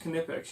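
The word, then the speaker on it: Knipex: safe around electrical stuff then I've got my can apec's pliers and I'm told by the gentleman over at the tool pros podcast that it is pronounced kinetics you you pronounced okay even though it's true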